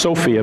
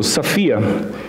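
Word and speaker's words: σοφία: is the greek word sophia sometimes pronounced sofia but it's actually an omicron so it's a it's a short o sound so sophia and it means it's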